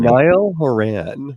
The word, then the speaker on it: Niall Horan: DJ, how do you pronounce that first name? Niall Horan.